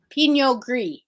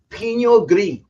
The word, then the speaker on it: Pinot Gris: Pinot Gris. Pinot Gris. Mm-hmm. Pinot Gris. Swallow the R.